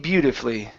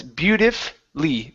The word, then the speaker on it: beautifully: more time he played beautifully he played uh he played beautifully beautifully yeah beautifully beautifully so yeah don't worry about the U there the U doesn't matter anymore it's beautifly beautifully beautifully okay very good and